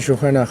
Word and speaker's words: Johanna Holt: Y estamos con Johana Holt.